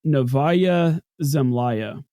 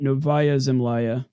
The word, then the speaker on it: Novaya Zemlya: Yeah, I think they would pronounce it Novaya Zemlya or Zemlya because that Y is following a consonant, whereas the Novaya, the Y is following another vowel.